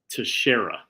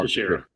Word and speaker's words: Teixeira: Glover Teixeira, just like Mark Teixeira.